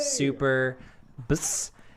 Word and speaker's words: Super BS: Guys, welcome to the 32nd annual episode of Super BS.